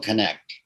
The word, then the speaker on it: Knecht: I'm pronouncing it 3 times a day. Connect the dots is what I say.